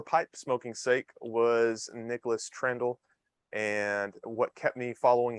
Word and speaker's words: Trandahl: Now, am I pronouncing Trandahl right? I meant to ask you that beforehand. Rhymes with candle. Candle Trandahl.